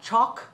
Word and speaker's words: chalk: we say walk okay so we have a lot of al spellings where the l is silent but it helps tell us how to pronounce the word but sometimes when we